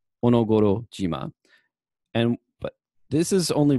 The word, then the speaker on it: Onogoro: no goro and then here we have shima or jima because it's in combination so this whole thing right here is read as onogoro and but this is